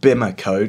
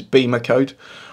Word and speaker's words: BimmerCode: there's an app called i call it bimmer code because it's spelled b-i-m-e-r-c-o-d-e lots of other youtubers refer to it as bema code i'm going to be